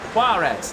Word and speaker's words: Juarez: Juarez, that's how you pronounce it. Okay, thank you. Thank you, chat. And yes, you have to put emphasis on the Juarez.